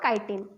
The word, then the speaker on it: chitin: And fungus का cell wall काइटिन, CHITIN, यू can pronounce it एट चिटिन और काइटिन।